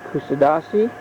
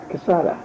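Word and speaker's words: Kuşadası: This is from the balcony of the hotel in Casada. I didn't say that right. I'll pronounce it better later.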